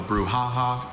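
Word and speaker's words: brouhaha: Bruhaha also bruhaha.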